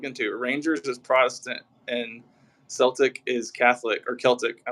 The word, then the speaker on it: Celtic: that gotcha we were saying it right it's Celtic okay I think I said Celtic in one